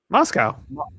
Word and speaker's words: Moscow: You you pronounce it like moss and the thing that eats grass and we get milk from Moscow.